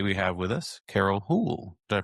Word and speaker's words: Houle: I am your host, James Carman, and today we have with us Carol Hool. Did I pronounce that right? Hool.